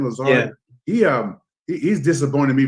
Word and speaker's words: Lazard: disappointed you know Le Lazard is how you pronounce his name Lazard he um he's disappointed me from day one